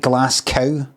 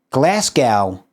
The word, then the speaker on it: Glasgow: They used to say like glass, kind of like glass cow. But with a G. Glasgow.